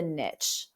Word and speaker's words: niche: social media talk about how you are the niche or Niche whichever way you say it like